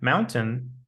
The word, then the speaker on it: mountain: Look at the words curtain and mountain. They do not rhyme with words like pain and gain. Certain and mountain rhyme with fountain.